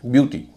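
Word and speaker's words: beauty: जैसे ब्यूटी बी इ ए यू टी वाई। ब्यूटी में इ ए यू का उच्चारण हो रहा है उ।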